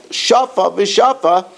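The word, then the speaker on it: שפה ושפה: Shani Hacha, the kol shafa v'shafa, each row, that's the way Artskel has the pronunciation.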